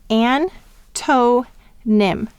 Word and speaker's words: antonym: of the syllable and what do we hear when we say antonym quickly we hear the schwa sound that's because the accent is on an antonín and this is an unaccented syllable but will exaggerate that